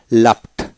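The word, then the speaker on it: laughed: তারপর আসেন লাফ, লাফ LAUGH লাফ, লাফ শব্দ করে হাসা, লাফট লাফট অর্থাৎ ইডিতে ট উচ্চারিত হয়, লাফট লাফট।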